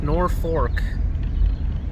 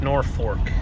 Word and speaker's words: Norfolk: here in downtown norfolk it's pronounced nor fork and it got its name from the north fork of the river i think the elkhorn